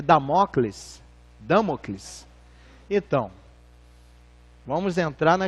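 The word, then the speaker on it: Dâmocles: Jorge que é esse nome é muito de pronunciar é damocles damocles então vamos entrar na historinha isso a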